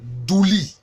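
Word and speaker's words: dulie: Au plan théologique, la vénération est appelée douli. Ça s'écrit avec D-U-L-I-E.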